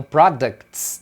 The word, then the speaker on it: products: É assim que eles pronunciam products, uma consoante, o T e o S. Essa combinação, geralmente eles vão tirar o T. Então, products, na verdade, as pessoas falam products.